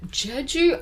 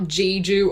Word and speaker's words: Jeju: idea all right so Jeju Island guys uh and it is not jiju or Jeju which I've seen um some foreigners just don't know how to pronounce it so it's actually